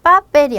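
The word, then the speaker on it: papel: 서 빠벨이 아니라 빠벨 요렇게 뒤쪽으로 와야 되고 프로페솔 때 프로솔은 마찬가지로 가장 끝에 엑센트가 와야 되고 see that 마찬가지죠.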